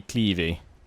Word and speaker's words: Cleves: Yeah, apparently Clevey is the correct way to pronounce it. Although, I think Cleves is the the British pronunciation as such. I will try to say Clevey.